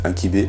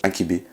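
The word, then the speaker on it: ankihibe: Le pouce, on dit inkibé, on prononce surtout pas le H. Enfin, il y a des mots où on peut prononcer le H, mais là, on prononce pas le H, inkibé, qui veut dire le pouce.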